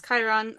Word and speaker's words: Chiron: Chiron? How do you say his name? Yes, it's Chiron or Mr.